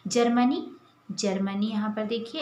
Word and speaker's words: जर्मनी: अर्थात सन 1839 में जर्मनी यहाँ पर देखिए, ये ज के बाद ये रेफ वाला र है, तो इसका उच्चारण जो है ज के तुरंत बाद होता है, तो हम इसे पढ़ते हैं जर्मनी।